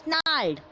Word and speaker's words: snarl: The next one is snarled. In this snarl, the R is silent. In this word, the snarl, the R is always silent.